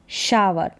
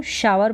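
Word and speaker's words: shower: Eight कितने बजे, इसको शावर पढ़ेंगे। फिर यहाँ पर शोवर नहीं पढ़ेंगे कि इसको पढ़ लिया शो, SHOW और फिर करके शोवर नहीं, शावर।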